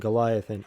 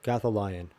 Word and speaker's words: Gothalion: Shroud and Goliathan. I've heard of Goliathan. Am I saying that wrong? Gothalion. I did say it wrong.